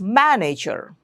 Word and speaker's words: manager: By stressing the first syllable, it's manager. The manager of this company is from England. Okay. So, it's not manager, it's not manager. If you're pronouncing it that way, you are doing it incorrectly.